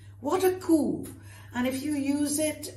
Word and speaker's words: coup: A coup. My gosh, what a coup. Which means, you don't say coup, please. Coup means what a masterstroke. Fantastic thing. All right, what a coup.